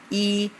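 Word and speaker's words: 一: เลข 1 เลข 1 ใน ภาษา จีน อ่าน ว่า อี เรา มา ลอง เขียน ตาม กัน ดู นะ ครับ เลข 1 จะ เขียน จาก ซ้าย ไป ขวา ครับ ลอง เขียน ตาม กัน ดู อีก รอบ นะ ครับ เริ่ม จาก ซ้าย ไป ขวา ครับ ภาษา จีน อ่าน ว่า e แปล ว่า เลข 1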